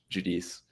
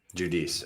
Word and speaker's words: Giudice: I can't remember what it was, but like because he's Italian, he's got a different pronunciation that's like the true like authentic Italian one. Okay. But he was just like, y'all can just call me Giudice. Giudice.